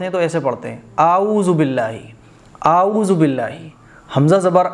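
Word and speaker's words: أعوذ بالله: تو حمزہ جو ہے وہ کھچے گا نہیں، اعوذ باللہ۔ کچھ خواتین جو ہیں پڑھتی ہیں باللہ، تو باللہ نہیں پڑھا جائے گا، اعوذ عین کی آواز نکلے گی، اعوذ باللہ باللہ باللہ نہیں باللہ۔ آگے دیکھیے منش شی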